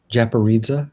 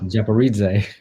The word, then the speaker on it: Japaridze: let me make sure i'm saying it right japorita tarot japaritze yeah japaridze yes i always get it wrong so not